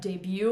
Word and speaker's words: debut: first like kind of debut or entrance. Debut is another word which very obviously comes from French cuz it ends with a T and we don't pronounce it.